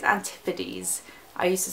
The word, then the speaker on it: Antipodes: I think you say it, I used to say it wrong. I think it's Antipodes. I used to say like Antipodes.